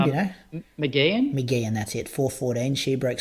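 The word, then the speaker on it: Mageean: How do you pronounce her last name? Do you know? McGeehan, that's it.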